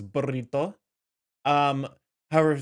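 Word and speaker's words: burrito: when you say like burito you're supposed to roll the R so it's burito um however if it's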